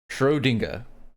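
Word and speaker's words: Schrödinger: Shrodinga. Shrodinger. So, it's dingga, not ding.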